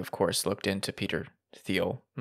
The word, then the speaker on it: Thiel: She sent me a message to correct my pronunciation, which is Thiel. What she does. Thiel. We haven't talked in like months, and she said, it's Thiel, not Thiel.